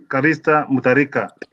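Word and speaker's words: Callista Mutharika: Yeah, the correct name is Her Excellency Callista Mutarika.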